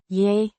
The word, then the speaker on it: Jeg: Means I, pronounced Yeah. similar to the y in yes, but slightly longer and more emphasized.